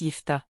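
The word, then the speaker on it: Jephté: la chaîne merci d'avance jeft en hébreu phéicien se prononce yfta il apparaît dans le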